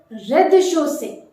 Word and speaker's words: rez-de-chaussée: Ground floor, rez-de-chaussée. Rez-de-chaussée. Notice the Z in the first syllable is completely omitted. You need not to be pronounced.